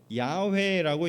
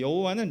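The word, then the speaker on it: 야훼: 금 호라고 돼 있 이게래 발음은면 야외라고 읽는게 맞다라고 히브리인들이 히브리인 학자들이 얘기하는 겁니다 근데 여호와는 나중에 이게 라틴어 번역이 되면서 y 발음이 라틴어 없기 때문에 이게 제의로 갔다가 제가 이제 이응이 되면서 우리이 여호와 이런 식으로 된 거거든요 그래서 원래는 아 야외라고 읽어야 돼요 여호와라는 거보다는 자 그래서 이름을 야외라고 여기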